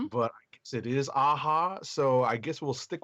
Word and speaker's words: Aja: heard David Aja's name pronounced as Aha, like the band Aha, like Take On Me. Okay. So we've been erring on the side of caution and saying Aja, but I guess it is Aha.